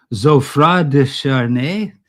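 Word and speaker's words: Geoffroi de Charny: Uh I looked up how to pronounce his name. We would just say Jeffrey, but it's uh Zofra de Charne.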